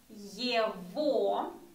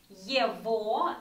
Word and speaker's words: его: And his is going to be его. We talked about the letter G. It's pronounced as V. Его and ее.